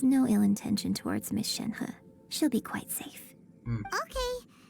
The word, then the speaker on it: Shenhe: Shenhe. Shenhe.